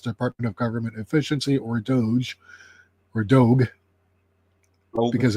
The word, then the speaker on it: Doge: of government efficiency or Doge or dog because a g is a hard G so it's like do